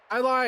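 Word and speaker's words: Jai Lai: and stuff yeah yeah i lie is spelled j a i space l a i j is silent like silent in yogging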